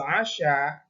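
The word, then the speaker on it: عَشاء: Anak-anakku sekalian, di situ tadi di akhir ada dua kata yang sama, tetapi membacanya beda dan artinya pun beda. Sholatul isya, ini maksudnya sholat isya, tapi kalau yang atana walul asya dengan dibaca fathah ainnya, itu artinya makan malam.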